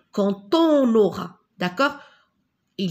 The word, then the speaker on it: quand: Si on apporte son aide aux autres, on recevra de l'aide en retour quand on en aura besoin. Regardez ici, il y a la lettre D, mais je prononce la lettre T quand on aura.